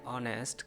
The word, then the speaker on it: honest: यू आर नॉट एन ऑनेस्ट, कज यहाँ पे एच साइलेंट है, ओ का मुकाबला एन से हो रहा है।